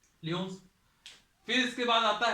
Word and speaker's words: Lyon: ये पड़ता है आपका पेरिस में, लियोन्स। फिर इसके बाद आता है, इसको ल्यूनेस भी कहते हैं, प्रोनाउंसिएशन इसका ल्यूनेस का भी होता है, ठीक है।